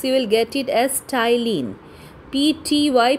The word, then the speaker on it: ptyalin: It is given salivary amylase here, but in some books you will get it as ptyalin. P-T-Y, P is silent here. So remember, salivary amylase and ptyalin are the same thing.